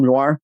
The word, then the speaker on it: noir: noir oh it's uh it's like noir like film noir yes yeah thank you